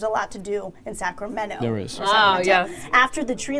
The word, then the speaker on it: Sacramento: Erin Swanson McGoldrick says you do pronounce the T in Sacramento I've lived here my